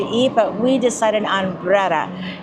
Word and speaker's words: Brera: We were wondering how to pronounce it, so it's Brera.